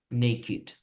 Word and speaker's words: naked: So in this case, you don't follow these rules; they are exceptions, and you say wicked, naked, wicked, naked, exceptions, yeah.